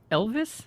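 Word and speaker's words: Ylvis: You've got The Fox, parentheses, What Does the Fox Say by Elvis. I think that's how you might pronounce it. It's spelled with a Y, Lvis.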